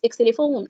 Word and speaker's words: xylophone: Xylophone. Sure. It's not xylophone, as we said. It's xylophone.